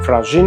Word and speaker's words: FRÁZIN: Per via del fenomeno della geminazione della consonante postonica semplice, che abbiamo visto nel video dedicato alle consonanti, la G sarà pronunciata doppia sia al presente sia al perfetto, perché immediatamente preceduta da una vocale tonica e immediatamente seguita da una vocale non tonica.